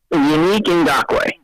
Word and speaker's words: Yannick Ngakoue: How is it pronounced again? Yannick Ngakoue.